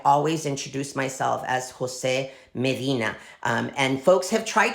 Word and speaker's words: Medina: I'm at I always introduce myself as Jose Medina um and folks have tried to call me